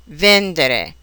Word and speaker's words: vendere: Many, but not all, of these verbs are accented on the syllable that precedes the next to the last. Here are some examples: credere, vendere, rispondere, ricevere.